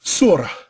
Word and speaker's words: surah: and arabic excuse me basically arabic it's surah you hear the h breath because surah in the quran is spelled s-u-r-a-h not s-u-r it's pronounced different has